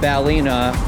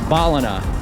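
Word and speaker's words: Ballina: say Brisbane Brisbane similarly it's not balina or balina it's balina there's another bridge that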